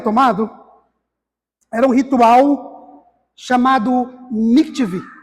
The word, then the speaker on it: mikveh: era um ritual chamado mikveh. Eu acho que é assim que se pronuncia, tá? Eu não sou profissional em hebraico. M-I-K-V-E, com acento no E.